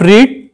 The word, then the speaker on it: read: the third form of read? The third form of read is the read. Spelling will be same. But the pronunciations will be changed. Read, read and read.